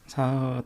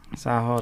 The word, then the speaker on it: Satoh: Do you know how to pronounce his name? Satoh Takeru. Yeah. Satoh Takeru.